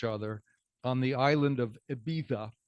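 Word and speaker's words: Ibiza: on the island of Eiva. In Spain, you can only say it like this, IA.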